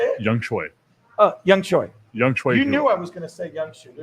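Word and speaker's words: Younghoe: It's Young Shu. Is it how you say it? Young Choi.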